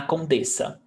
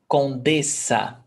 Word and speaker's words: condessa: And double S is pronounced S. Condessa.